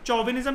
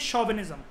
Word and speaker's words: chauvinism: कई लोग इसको चौविनिज्म भी कहते हैं, लेकिन चौविनिज्म नहीं बोला जाता है, इसकी राइट प्रोनाउंसिएशन होती है शॉविनिज्म।